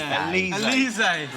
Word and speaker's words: Alizé: Alizé. Yes, please. Yeah, you like that? Yeah, yeah. Let's have some Elise. Alizé.